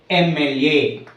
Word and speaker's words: MLA: For example, MLA. Okay, here this is the abbreviation form MLA. So before MLA, here M, starting letter is M and it gives the pronunciation of A, vowel pronunciation.